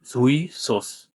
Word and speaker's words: jouissance: সুইসোসের উচ্চারণ এরকম জুই সোস। এখানে ফরাসি শব্দে জু উচ্চারণ হয় না দেখে ঝুই বলতে হবে।